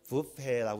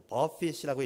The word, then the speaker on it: buffet: 근데 뷔페를 이렇게 쓰는데 이걸 뷔페라고 읽지 않고 버핏이라고 읽게 되면 외부적인 요인에 의해서 나에게 찾아온 괴로운 상황을 이야기하는 거예요.